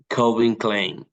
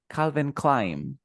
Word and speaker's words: Calvin Klein: the last one uh Colvin Klein yeah almost perfect you say Calvin Calvin Klein Calvin Klein Calvin Klein okay